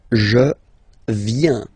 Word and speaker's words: viens: First form, je viens, final S not pronounced.